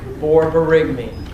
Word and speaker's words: borborygmi: Borborygmi. Increased bowel sounds. Can you spell that one more time?